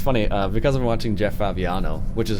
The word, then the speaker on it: Fabiano: Yeah, it's funny, because I'm watching Jeff Fabiano, which is how you say his name.